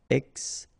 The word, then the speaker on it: extinction: Okay, remember, T-I-O-N, sion. Extinction.